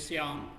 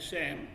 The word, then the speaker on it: Syam: He was not able to pronounce my name as Syam. He said, "Look here is my friend Sam."